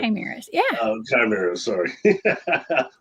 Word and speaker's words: chimeras: these, I always get the word, I always mispronounce it, chimeras. Is that right? Chimeras, yeah.